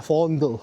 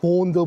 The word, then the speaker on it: Vondel: No it spells as Vondel V. Pero dito kasi V is pronounced as F kaya fond. Fondle park.